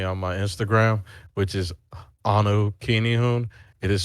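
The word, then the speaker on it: anukinihun: always find me on my instagram which is anukini hoon it is spelled a-n-u-k-i-n-i-h-u-n you can always find me on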